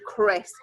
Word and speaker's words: Chris: name is that you might know somebody called Chris it's somebody's name do you might have an